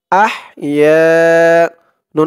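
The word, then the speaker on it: أحيانا: আর রি এখানে একদম পাতলা করতে হবে, নরম করতে হবে দালের উচ্চারণটা, রি। আলহামদুলিল্লাহিল্লাযী। আলহামদুলিল্লাহিল্লাযী হামজা হা জবর আহ আহ ইয়া আলিফ জবর ইয়া আহ ইয়া নুন আলিফ জবর না না এক আলিফ টান ইয়া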